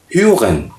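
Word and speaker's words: hören: Listen, to listen, तो इसकी spelling है हा ओ डबल डॉट के साथ, यानी ओ ऑमलाउट, हा ओ एग ए एन, ह्यूगन, ह्यूगन। ह्यूगन नहीं पढ़ते, एच थोड़ा सा साइलेंट रखते तो ह्यूगन, ठीक है।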